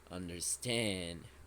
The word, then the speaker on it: understand: Just be careful with the stressed syllable of this verb. It is understand.